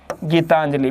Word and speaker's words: गीतांजलि: मैंने आपको नियम बताया था कि जब जिस वर्ण के ऊपर अनुस्वार लगता है तो अनुस्वार का उच्चारण संबंधित वर्ण के बाद में होगा। गीतांजलि हम बोलने में इस आधा ने का उच्चारण कब कर रहे हैं, ते के बाद कर रहे हैं, तो अनुस्वार कहां पर आएगा, ते पर।